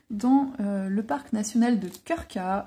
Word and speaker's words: Krka: le parc national de Krka. Alors c'est imprononçable. Enfin, si ça se prononce Krka, mais quand on le lit, on se dit mais comment je vais prononcer ce truc?